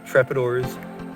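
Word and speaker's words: Trepador: But I've been obsessed with the Maxxis Trepidors, that's how it's pronounced, on the one scale world for years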